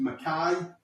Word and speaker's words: McKay: One of our friends, Tony, gave us all nicknames because my surname is McKay, but it's pronounced McKay.